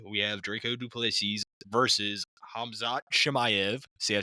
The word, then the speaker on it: Khamzat Chimaev: And for our main event, as you just heard, we have Draco Duples versus Hamzot Shimayv.